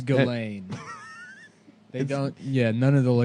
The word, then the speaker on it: Ghislaine: It's Ghislaine. They don't. Yeah, none of the. You don't pronounce any of the letters.